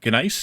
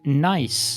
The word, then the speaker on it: gneiss: But I think Nice is the correct pronunciation. English in pronunciation. English. Yeah. I think I looked it up, and that's how it is pronounced.